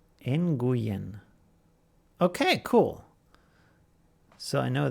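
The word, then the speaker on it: Nguyen: that the stuff is sitting in there it's pronounced in GU yen in GU Yin okay cool so I know that is that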